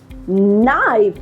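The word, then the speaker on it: knife: व word which is नाइफ now again के एन एन से शुरू हो रहा है that is व्हाई you know we are going to keep the के silent and we will pronounce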